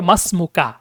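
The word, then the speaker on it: ما اسمكَ: হয় মা ইসমুক মাসমুকা যখন ইসমুনের শুরুতে কোন শব্দ আসে মিলিয়ে পড়তে হয় এবং অর্থ হবে মানে উচ্চারণটা হবে মাসমুকা মাসমুকা মানে কি তোমার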